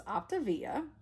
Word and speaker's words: Optavia: my optivia journey and i think i mispronounced the diet program in the first where i'm unboxing so it's optivia um and i also